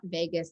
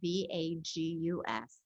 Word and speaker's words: vagus: has ever heard of it is not vegas like what happens in vegas stays in vegas it's spelled v-a-g-u-s and it basically is